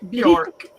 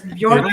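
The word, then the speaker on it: Björk: Bork. Bj O R K. Bork from York.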